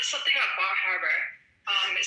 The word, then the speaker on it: Bar Harbor: If you weren't from the that portion of the country, you would say Bar Harbor and you would pronounce the R. It'd be harder than they pronounce it.